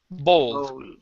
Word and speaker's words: bowl: the word bowl okay an o sound bow oo bowl bowl good good nice job